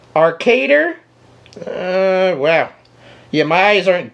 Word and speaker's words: ArcadeR: Is that the proper pronunciation? ArcadeR with a big R in the end.